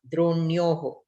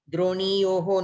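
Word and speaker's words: द्रोण्योः: Since the ikara itself is converted into yakara, the nakara is spelt only half. Dronyoho. Droniyoho no. Dronyoho. Okay?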